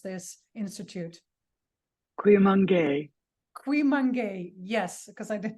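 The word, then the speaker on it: Cuyamungue: you have to tell me how do I pronounce this institute? Cuimangué.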